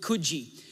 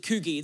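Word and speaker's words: Coogee: up and there's this place in australia called kuji but i pronounced it coogie that's how i thought it was like those g's and e's and so i just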